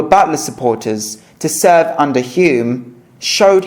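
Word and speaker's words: Home: Butler again, Lord Halsham, Quinton Hog, Regginald Mordling, and a late outsider Lord Hume H pronounced Hume.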